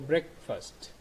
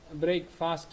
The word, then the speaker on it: breakfast: breakfast by a snuggle break fast and a llama Savannah that's wrong don't read it don't pronounce it break fast that is not breaking fast this is breakfast so breaking fast is